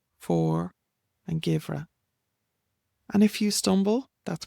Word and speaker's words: Geimhreadh: And then we have Arroch, Saura, For, and Givra.